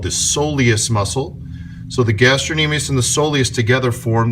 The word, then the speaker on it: gastrocnemius: These are the two bellies, the medial and lateral bellies of the gastrocnemius muscle, gastrocnemius, sometimes you pronounce it that way.